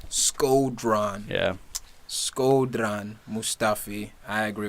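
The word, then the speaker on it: Shkodran: Skodran.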